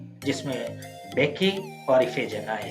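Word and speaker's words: Bacchae: तो बेकी ही है, 2 प्रोनाउंसिएशंस आपको मिल जाएंगे, कहीं से भी ढूंढेंगे, एक बेकाए और बेकी। बेकी ज्यादा अच्छा है अगर यूनानी टर्म्स में देखा जाए, जिस तरह वो बोलते थे इस तरह के लफ्जों को।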